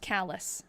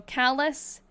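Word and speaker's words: Calais: You did tell me on the 24th it's pronounced callous. So that's correct." So confusing. So Callus, Barry, and Montpil, Montpilar.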